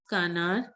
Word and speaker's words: canard: Canard, most of you were pronouncing it right. Canard.